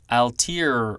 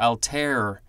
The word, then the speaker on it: Altair: and Mongolian language families collectively next we have al tear or Altair capital alt a IR this is a noun